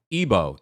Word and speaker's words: Igbo: Ebo. Ebo. Ebo. Right. Ebo. Thank you. Ebo. Ebo. I'm part of the tribe. Come on now. Okay. Thank you so much, guys. You know, the G is silent.